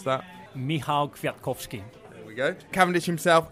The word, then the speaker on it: Michał Kwiatkowski: We'll pass over to Rob to pronounce that. Michał Kwiatkowski.